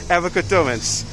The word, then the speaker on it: Erica Durance: Yeah, Erica Durance.